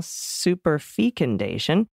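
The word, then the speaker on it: superfecundation: call it personally I've always pronounced it with a long e up until now super fee condition so I checked with Merriam-Webster and learned that short or long e is acceptable but I definitely like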